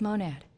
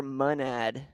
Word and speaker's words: Monad: Monad, or Monad. There's a lot of different opinions on how to say it correctly. I like Monad because the ticker is Mon, so it just makes sense to me for Monad.